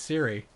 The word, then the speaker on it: Ciri: Yeah, it's but it's spelt with a C. C-I... Because her name is Cirilis, right? Is her full name? So it's C-I-R-I. But I always feel like... No, it's Siri.